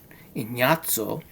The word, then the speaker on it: Ignazio: And then we have Inyato. That's how you say it. Inyato. Even though in English it doesn't sound like that, right? But the proper way is Inyato. Inyatso Danti.